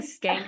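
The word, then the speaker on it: Schenck: I am saying it's Skank, but it's spelled S-C-A. Sorry, I have the humor of a junior high boy. Okay, it is what it is, people. E-N-C-K, yes.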